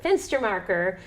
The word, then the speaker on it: Fenstermacher: Fenstermacher. Fenstermacher, and I'll spell it BFENSTERMACHER at ConcordNH.gov.